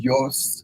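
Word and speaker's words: υἱός: Yeah, ის is swine and Ios is son. So if you with the modern pronunciation, ის, the spelling is usually U-S.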